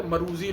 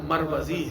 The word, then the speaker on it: مروزی: کہیں علامہ صاحب کا نام آتا ہے مروزی لوگ پڑھ دیتے ہیں ان کو، اصل جو اس کا تلفظ ہے وہ مروزی ہے، سمجھ آئی۔ اور راضی